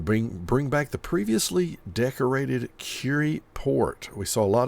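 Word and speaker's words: Kure: is the incorrect pronunciation, the reason I'm saying it like that is because that's how our beach name is said. It's Curie. Now, this may actually be Cure. I don't know. We're going with Curie. Just know that if you think that's incorrect, it's probably because it's the southern Japanese pronunciation.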